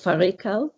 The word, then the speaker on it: fårikål: So tell me about Norway's national dish, which is, I don't know how to pronounce it, fårikål?